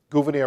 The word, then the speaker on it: Gouverneur: 11 years later, in 1787, Gouverneur Morris writes his eloquent preamble to the Constitution. That's his unusual first name. By the way, Gouverneur, it's not Governor Morris of Pennsylvania. It's Gouverneur Morris.